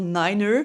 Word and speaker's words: niner: Le 9, on va pas dire nine, on va dire niner, pour éviter les confusions avec la langue allemande qui disent nine pour dire non.